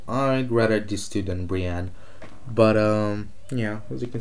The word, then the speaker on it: Brienne: And if it was a choice between Daenerys, Tyrion, and Brian, yes, I know I'm saying it wrong. Yeah, so I'd rather these two than Brienne.